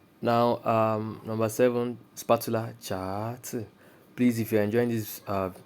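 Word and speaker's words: 叉: for number one we have Fork Fork is pronounced as cha cha cha cha that is now number two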